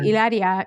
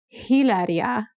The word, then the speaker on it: Hilaria: But in Spanish, you would say Hilaria. You wouldn't say Hilaria, because H's are silent.